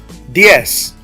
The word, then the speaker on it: diez: Diez, diez. Now, diez, I have an open vowel and a closed vowel. That's called a diptongo, a diphthong. That creates 1 syllable.